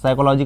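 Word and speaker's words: psychology: जानना चाह रहा है साइकोलॉजी का स्पेलिंग पी पी साइलेंट होता है बाकी समझते ही होंगे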